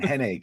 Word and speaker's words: Hennig: I go, "It's wrong. It's Kurt Hennig."